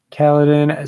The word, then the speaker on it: Kaladin: pull it up really quick okay he says caledon so okay i need i need to bring